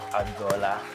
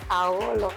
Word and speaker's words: Aolo: Actually, the name is Aolo, not Agbola. Oh, Aolo. Oh, sorry. Aolo. Oh. You know, it's AGH. Oh. The G is silent. Oh, wow. You pronounce the H.